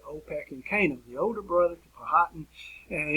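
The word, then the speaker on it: Opechancanough: trying to pronounce this i had the best pronunciation i can come up with which i've used for well over 20 years at opec and kano i'll say it again for you opec and canaan the older brother hatton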